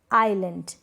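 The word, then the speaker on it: island: example देख लें, जैसे कि एल आइलैंड, यहाँ पर हम एसल ऐसे नहीं पढ़ेंगे, पहले वाले स्पेलिंग इजलैंड नहीं, एल और आइलैंड, यहाँ पर एस को प्रोनाउंस नहीं कर रहे, एस यहाँ पर साइलेंट है क्योंकि एल से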